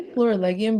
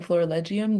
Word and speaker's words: Florilegium: people have been saying Florilegium that I'm like, maybe I should change the way I pronounce it because I think it probably makes more sense. But I say Florilegium if that helps.